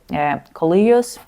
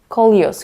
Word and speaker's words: Coleus: But for now, it's time to repot, especially the Kios. Did I pronounce that right? Kios. Kolios.